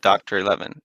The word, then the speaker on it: DoctorXI: It's Roman numerals, so 11 Okay. technically. Oh, Doctor 11.